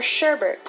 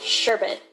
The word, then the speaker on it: sherbet: it as expresso or sherbert with an R even though it's indeed pronounced sherbet 12 eating bananas this